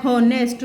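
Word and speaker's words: honest: एच तो consonant है, लेकिन जब हम इसका प्रोनाउंसिएशन करते हैं तो एच हॉनेस्ट, तो ए का साउंड आ रहा है, इसलिए हम यहाँ ए एन का यूज़ करेंगे।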